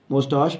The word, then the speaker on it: mustache: मुस्टाश भी पढ़ते हैं इसको, दोनों प्रोनाउंसिएशन है इसकी।